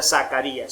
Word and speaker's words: Zacharias: Ravi Zacharias, se escribe con Zacarías con Z, y Zacharías, así se escribe, pero se pronuncia Zacarías, se escribe Zacharías.